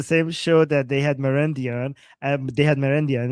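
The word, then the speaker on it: Marandi: So given that his name is Merendi, Charand rhymes with Merendi.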